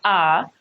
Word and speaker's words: are: The R here is not pronounced. Remember that when we speak, we do not speak using the letters of the alphabet. We use sounds, okay? And this A-R-E is pronounced R, and this is represented by the vowel R, the long vowel sound.